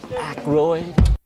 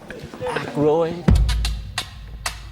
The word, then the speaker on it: Aykroyd: Chevy Chase, Gilda Radner, Dan Ike, how the fuck do you pronounce this? Aykroyd.